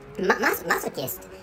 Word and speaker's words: masochist: that that word in in English language the pronunciation is masochist but actually you know in in this country